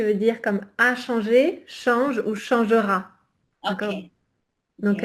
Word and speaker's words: change: dire comme a changé, change ou changera. OK. D'accord? Donc, OK. l'intelligence artificielle change, et là, je ne prononce pas le E, d'accord?